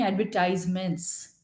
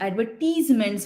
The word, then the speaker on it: advertisement: तो ये देखा गया कि American way of speaking is एडवर्टाइजमेंट कहते हैं उसके, विज्ञापन के लिए एडवर्टाइजमेंट कहते हैं। और ब्रिटिश प्रोनाउंसिएशन देखा गया है, उन्होंने कहा है एडवर्टीजमेंट है।